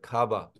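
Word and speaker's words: ཁ་བ: अब देखिए यहाँ बीच में डॉट है, इसीलिए इसका उच्चारण हम लोग थोड़ा दीर्घ रूप में करते हैं, खाबा।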